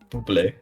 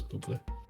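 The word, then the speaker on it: Bublé: How do you pronounce Michael Bubé's last name? Bubble. Yeah, it is Bubé.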